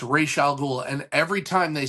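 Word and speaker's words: Ra's al Ghul: Same with Raal Ghoul. It's Ray Shal. It's not Razal Ghoul, it's Ray Shal Ghoul.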